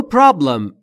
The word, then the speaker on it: problem: در مورد تلفظ problem دقت بکنید. Problem نیست دوستان. Problem به این دلیل که بین P و R صدایی وجود نداره. ما هم نباید صدای اضافه بکنیم.